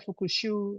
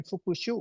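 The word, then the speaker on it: 復習: Jadi bacanya fukushu, bukan fukushu ya.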